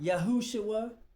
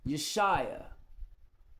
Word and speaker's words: Yeshua: It's not Yahushua, it's Yeshua.